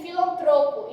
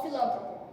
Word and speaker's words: filantropo: Avaro, caracteres, gratuito, intuito, látex, pudico e filantropo, e não filântropo, certo?